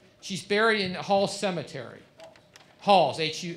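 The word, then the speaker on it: Haugs: right in frederick county hall's church it's it's um it's i but it's spelled h-a-u-g-s yeah i i believe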